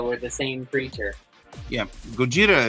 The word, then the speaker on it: Gojira: Yeah, Gojira is the Japanese pronunciation of it. Godzilla is the best they could make out of it.